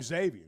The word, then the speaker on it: Xavier: When he first got here, I'm just going to tell you, I call him Xavier because I'm the same way you are. You don't actually pronounce the X, but he does.